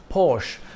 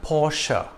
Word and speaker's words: Porsche: cars SUVs and sedans it's not pronounced Porsche but Porsche this brand got its